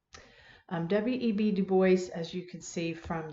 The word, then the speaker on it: Du Bois: Du Bois. Yes, you do pronounce it that way. I know it looks French, and it probably is French, but that's the way people pronounce that name. W.E.B. Du Bois, as you can see